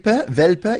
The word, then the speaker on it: Welpe: Welpe, you know a whelp in English?